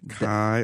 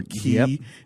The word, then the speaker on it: chi: Yeah, like a Greek letter, chi or ki, depending on how you want to pronounce it.